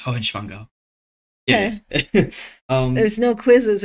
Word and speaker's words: Hohenschwangau: Oh, I'm just trying to get the pronunciation. That's okay. Nordrhein-Stein and Hohenschwangau. Okay. No, it's Hohenschwangau.